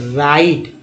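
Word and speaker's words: write: डब्लू का उच्चारण, डब्लू के बाद आर आया तो डब्लू का उच्चारण नहीं करेंगे, क्या पढ़ेंगे, राइट, राइट कर पढ़ेंगे इसे।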